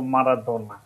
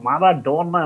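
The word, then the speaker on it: Maradona: আর্জেন্টাইনদের জিজ্ঞেস করেছিলাম এবং তারা কিন্তু পরিষ্কার উচ্চারণটা করে দিয়েগো আর্মান্দো মারাদোনা, একদম খুব সুর করে কিন্তু বলে, ওইখানে কিন্তু মারাডোনা না, ওরা কিন্তু খুব সুন্দর উচ্চারণ করে দিয়েগো আর্মান্দো মারাদোনা, একদম পরিষ্কার এটা, যে যার জন্য আমি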